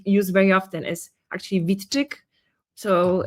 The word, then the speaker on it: Witczyk: for those who want to learn the proper pronunciation of my surname which I don't use use very often is actually Vitic.